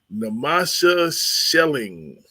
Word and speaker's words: Namasha Schelling: I hope she forgives me if I don't namasha shelling I believe that is it did I pronounce your name right that is correct namasha